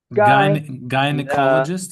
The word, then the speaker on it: gynecologist: That why that second letter Y, that second letter Y in that word is pronounced exactly like the name of the letter I. Gynecologist.